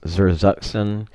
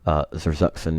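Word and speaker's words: Zersetzung: and these tactics based on, I think it's pronounced Zerzuxen.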